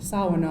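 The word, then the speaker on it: Shawano: then we have the city of shao which we pronounce Sao and that means from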